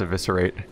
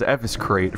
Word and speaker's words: Eviscerate: Yeah, I'm supposed to go practice Eviscerate. Which I mispronounced as Eviscrate for a very long time.